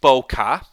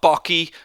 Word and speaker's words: bokeh: of all it's pronounced boca bo bo bo car not bucky not bouquet it's bo ka okay so we have